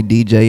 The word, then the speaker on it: Deejai: I was like that's DJ the prince is that how you pronounce your name am yeah that's how you pronounce it for show y me